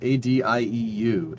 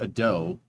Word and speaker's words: adieu: Adieu. It's French. It's spelled A-D-I-E-U. It's me. Not ado. It's not, that's how you would spell it, you know, how you would pronounce it with an English accent. But it's adieu.